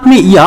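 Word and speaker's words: ミャ: तो मी के साथ में या प्रोनाउंसिएशन आता है मिया।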